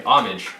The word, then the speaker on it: homage: Homage, right? H is silent.